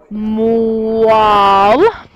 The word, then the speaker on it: moelle: C'est comment on le prononce, moelle. Alors, c'est comme moelle.